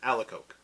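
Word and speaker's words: Alacoque: In the English-speaking world, we pronounce it Alicoque.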